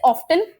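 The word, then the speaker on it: often: है उसी तरह से ऑफन इसका प्रोनाउंसिएशन ऑफन और ऑफेन दोनों होता है। दोनों सही है।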